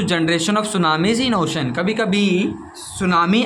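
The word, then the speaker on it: tsunami: अच्छे से याद करिएगा टी पहले होता है टी साइलेंट होता है इसमें और एस यू एन ए एम आई एस सुनामी ठीक है ओशन में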